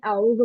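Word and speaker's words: أعوذ: तो सबसे पहले हमें आउजू पढ़ना होता है। आउजू आउजू ओके अजू ऐन को प्रोनाउंस करेंगे with the help of throat अ उ ओके अ उ अ ऊ stretch to counts because it इज वदा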